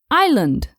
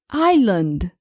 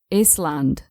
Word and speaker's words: island: on my list is Island I must have listen to my students pronounce this word incorrectly thousands of times and yeah we never pronounce the consonant s we say Island and never island it's Island let's see